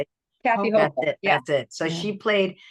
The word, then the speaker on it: Hochul: Kathy Hochul.